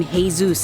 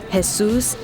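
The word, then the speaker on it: Jesús: don't you call him hey Zeus isn't that the proper way to say it no let me tell you something in case you didn't know has soos is jesus in Spanish okay like his name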